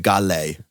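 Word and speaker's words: Ghale: gal AJ Gil no it's it's gal they even Pagan says it yeah that he says it in the beginning and then like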